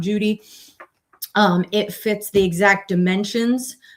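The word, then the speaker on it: Cudi: one that's called Mount Judy. It's spelled with C-U-D-I, so it looks like cootie, but it's pronounced Mount Judy.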